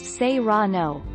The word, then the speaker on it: serrano: mark take our lead serrano peppers pronounced seirano are hot literally with